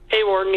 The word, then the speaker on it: Hawarden: Hawarden, did I say it right that time? Hawarden? Hawarden, yep. Hawarden, Iowa, the site of the Domination Motorsports Championship coming up Saturday the 1st.